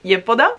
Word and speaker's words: Yepoda: schiumoso delicato di Yepoda, o Yepoda, che ho imparato, si pronuncia così, Yepoda.